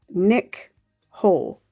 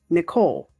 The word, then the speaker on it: Nichole: Third sentence of day one is Nick Hole. Nicole. But I think because it's spelled Nichole, I say Nick Hole.